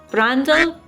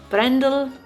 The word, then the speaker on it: Brändle: I think it's Bine Brändle, A with an umlaut, so Brändle.